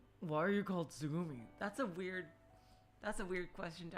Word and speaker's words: つぐみ: In Japanese, you write it moon, and then ocean, and read it Tsugumi.